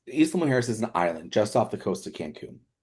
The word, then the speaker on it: Isla Mujeres: But yes, Yeah, so Isla Mujeres is a really good one because that one, it's Isla Mujeres is an island just off the coast of Cancun.